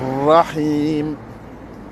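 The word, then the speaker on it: الرحيم: Et après, nous avons rahim. Pareil, le ra, il doit être insisté parce que c'est encore les lettres. Le ra, il est shamsiya. Et le ra, il doit être prononcé avec la langue et pas avec la gorge.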